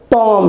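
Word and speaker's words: tomb: मकबरा होता है तो टॉम है बम है और कॉम नहीं पढ़ना है बी को साइलेंट कर देना है और यही तक पढ़ना है टॉम टॉम मंडराना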